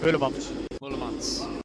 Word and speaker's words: Moulemans: We have Kevin Moulemans? Is that how I say his name? Moulemans. Yeah.